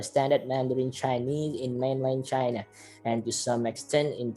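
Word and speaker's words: 七: Yang ketujuh ada chi. Nah, ini Q dibacanya C ya, chi.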